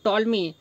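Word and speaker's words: Ptolemy: लेखक कौन है तो टॉलमी इसे इंग्लिश में पी टॉलमी लिखा जाता है जैसे कि सुनामी को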